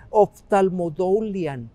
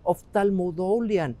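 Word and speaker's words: ὀφθαλμοδουλίαν: Déjenme tratar de pronunciarla en el idioma original, sería oftalmodoulian, oftalmodoulian, y sería una palabra compuesta de oftalmos, que tiene que ver con el ojo, con la vista, y doulian, otra vez,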